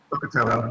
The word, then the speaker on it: Pocatello: Pocatello, yeah.